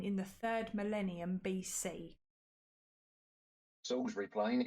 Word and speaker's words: Salisbury: Salisbury Plain. It's Salisbury. Oh, yeah. It's spelled Salisbury, okay? Yeah, it's, but it is Salisbury.